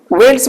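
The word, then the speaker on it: veldt: सर इसमें English में आपका VELTT आता है, पीछे टी रहता है, ठीक है ना, इसमें साइलेंट रहता है टी। वेल्स बोला जाता है हिंदी में, ठीक है वेल्स ही बोला भी वेल्स ही जाता है, लेकिन लिखा आपका VELTT है।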